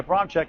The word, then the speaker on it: Abramczyk: Abram, then CZYK. Abramczyk is pronounced.